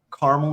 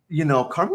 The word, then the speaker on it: Carmel: Carmel, Indiana, north of Indianapolis.